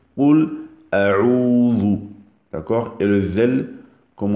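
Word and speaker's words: قل أعوذ: Donc, La manière sahih, la manière authentique de le prononcer, c'est Oul A'oudhu.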